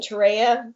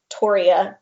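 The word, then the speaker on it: Torreya: the correct pronunciation is toriya because uh three is named after john tory uh oh okay yeah describe that plant so yeah so the toria tree was a plant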